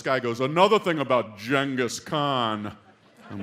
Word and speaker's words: Genghis Khan: First thing I hear, this guy goes, "Another thing about Genghis Khan." I'm like, oh, jeez. Now, you already don't like this guy. I go, "Oh, Genghis Khan? It was actually pronounced Genghis."